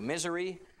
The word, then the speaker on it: Missouri: we have been to misery it is how you pronounce it i promise you that is how you pronounce that um state um i want to